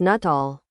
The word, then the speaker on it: Nuttall: pronunciation of that Codex Nuttall? Master, the what? Disciple, the Codex Nuttall, how is it pronounced? It's written as Nuttall in the letter, but what's the pronunciation in Nahuatl? Master, it's the same.